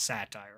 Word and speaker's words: satire: You know, and they say specifically in the beginning, it's written by it's spelled like satyr, but it's satire, of course.